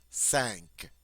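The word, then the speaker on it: cinq: at the end and also this has a nasal sound sank sounds like you're saying the English word s an k six CE CE cease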